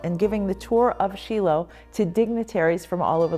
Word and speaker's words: Shiloh: I'm using the Hebrew pronunciation versus Shiloh, so every time I refer to Shiloh, it will be Shiloh.